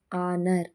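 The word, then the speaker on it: honour: ಆಗಿ G silent ಆಗಿದೆ ಹೆಚ್ silent ಆಗಿರುವಂತ ಪದಗಳು ಹಚ್ ಓ ಎನ್ ಓ ಯು ಆರ್ ಆನರ್ ಹಚ್ ಓ ಯು ಆರ್ ಅವರ್ ಟಿ ಹಚ್ ಓ ಎಂಎ ಎಸ್ ಥಾಮಸ್ ಹಾನರ್ ಅಂತಂದ್ರೆ ಗೌರವ ಆವರ್ ಗಂಟೆ ಥಾಮಸ್ ಇದು ಒಂದು ವ್ಯಕ್ತಿಯ ಹೆಸರು ಇದಿಷ್ಟರಲ್ಲಿ ಕಾಮನ್ ಆಗಿ ಹೆಚ್ ಸೈಲೆಂಟ್ ಆಗಿದೆ ಇದೇ ರೀತಿ ಇನ್ನು ಅನೇಕ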